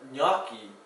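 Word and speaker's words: gnocchi: mozzarella is right there one thing to watch out for and Italian is there's often a silent G where you least expected the word naki dumplings of pasta made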